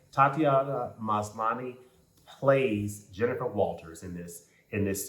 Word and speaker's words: Tatiana Maslany: And Tatiana Maslany, I believe, is how we pronounce her name. Tatiana Maslany plays Jennifer Walters in